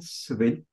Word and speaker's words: Svelte: Wie gesagt, Svelte ausgesprochen, Svelte geschrieben.